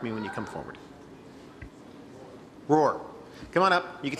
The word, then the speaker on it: Roohr: clear how do you say your last name roar roar okay Mr Roar thank you for being